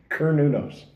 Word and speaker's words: Cernunnos: seat not a soft C so it's like her new nose yeah and Sam K is silent it's like okay that that that that